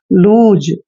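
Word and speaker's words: loose: double O एस ई एल का उच्चारण ल करते हैं डबल ओ को उ की मात्रा लिखते हैं क्लियर और देखिए जब भी एस से पहले ओ आता है तो एस का उच्चारण ज करते हैं इसलिए एस को हम ज पढ़ेंगे और लास्ट में जब आता है तो इसका प्रोनंसिएशन हम नहीं करते हैं लूज लूज क्या होता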